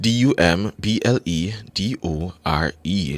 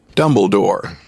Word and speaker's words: Dumbledore: Excellence all right your word of the day is spelled d u m b l e d o r e that's d m b l e d o r e Dumbledore dum Dumbledore Dumbledore so the word of the